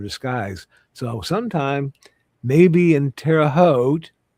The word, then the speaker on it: Terre Haute: So sometime, maybe in Terre Haute. Rhymes with boat.